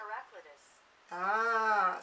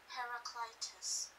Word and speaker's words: Heraclitus: That sounds more Greek to me rather than a way that an English person would say.